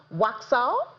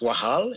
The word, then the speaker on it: Waxal: But first of all, let me find out, how is it pronounced Waxal? It's actually pronounced Wahal. It means speaking in Wolof, a language in Senegal. Okay, so it's Wahal, even though it's spelled with an X.